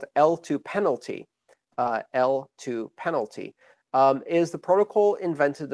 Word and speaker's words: eltoo: The most recent specification for payment channels is L2. It's spelled E-L-T-O-O, but it's pronounced L2 to sound like Layer 2, L2, the acronym for Layer 2 networks.